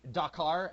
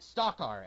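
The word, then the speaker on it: Stakar: it sounded like they were saying Dakar, as in D as in dog, but it's really supposed to be Stalkar, as in S as in Superman.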